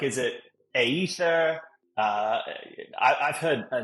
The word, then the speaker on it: Aethir: off pronouncing the name they're like is it ather uh I I've heard a number of different pronunciations and and I'll start there it's pronounced Aether and the origin of the word I think